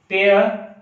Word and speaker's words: pear: ठीक है, वैसे ही एक PEAR पेयर, इसका उच्चारण भी बियर नहीं होता, बेयर, बेयर।